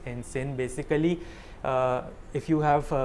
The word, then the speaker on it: ensign: new naval and sin it's not enzyme i checked the pronunciation on google so it's in sin basically uh if you